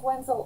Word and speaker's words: Wenzel: Wenzel Art. Spelled like it sounds with a Z.